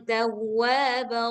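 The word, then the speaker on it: تواب: Nah, kalau misalkan ada huruf yang bertasydid, dia agak ditekan sedikit bacanya. Tawwa tawwa tawwa. Innallahaana tawwab rahima.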